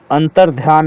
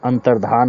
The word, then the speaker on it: अंतर्धान: चर्चा हो चुकी है अंतरध्यान नहीं होता है अंतर्धान होता है धा के ऊपर उड़त